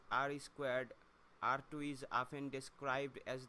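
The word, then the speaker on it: R²: of the questions is called r2 pronounced r squared r2 is often described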